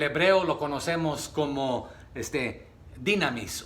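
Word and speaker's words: δύναμις: En el hebreo lo conocemos como este dinamis o dunamis se pronuncia y esto es poder.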